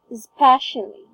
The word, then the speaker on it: especially: Alright, so it's, you have to put a stress on the first syllable, which is S. So it's especially.